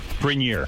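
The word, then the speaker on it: Grenier: Grinier is the right way to say it.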